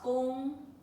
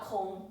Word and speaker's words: 功: But in Chinese, it's a different pronunciation. Okay. This is gong, not kong.